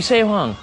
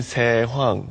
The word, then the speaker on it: 세황: They would pronounce it.